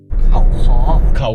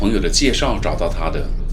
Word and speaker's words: Khao Kho: enjoy life even more Khao Kho, Khao Kho, going to Khao Kho now "Khao Kho" phonetically translated to Chinese is "Kao Ke" "Kao" is the mountain peak's mountain And "Ke"?